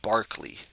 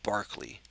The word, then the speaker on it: Berkeley: r ke l y I believe it's properly pronounced um Barkley George Barkley so let's say it that way George Barkley